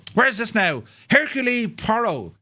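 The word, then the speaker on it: Poirot: well mate um where is this now Hercule parro how do you pronounce it though pronounced Pirro Pirro his name was pirot yes Jesus now H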